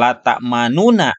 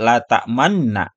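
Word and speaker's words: تأمنا: dengan samar dan cepat sehingga suaranya tinggal 2/3nya saja bukan lat manuna Bukan tapi lat Manna agak cepat ya bacanya selanjutnya yang berikutnya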